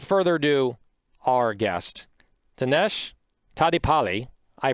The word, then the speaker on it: Tadepalli: all right without further ado our guest tanesh tadi pali i pronounced his last name right for the first